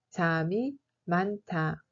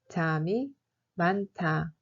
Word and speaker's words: 잠이 많다: 잠이 많다 se prononce comme 잠이 많다. 잠이 많다.